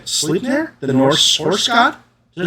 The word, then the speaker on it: Sleipnir: They just premiered a mini at Gen Con that's supposed to be, I'm going to pronounce it wrong, Sleipnir, the Norse horse god. Does anyone know what I'm talking about? Sleipnir.